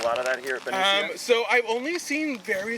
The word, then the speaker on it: Benicia: And how do you pronounce this name of this park? So this park is called Benicia Benicia.